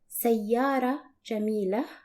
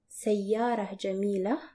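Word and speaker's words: سيارة جميلة: Another example that will show the feminine form, pretty car, which is pronounced as sayyara jamila, sayyara jamila.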